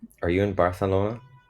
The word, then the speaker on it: Barcelona: nathan what's up how's barcelona are you in barcelona that is how they say it huh with like a weird lispy th they also say ibiza